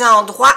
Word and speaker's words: endroits: 1000 de T les endroits habités a 1 Millas de todo lugar habitado ro es lugar aquí plural en francés que no se pronuncia ni la T ni la S ES lugares habitados hab